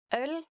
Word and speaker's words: Øl: So I think some of you might have problems pronouncing ø, It kind of sounds like somebody hits you in the stomach. You go like, ugh.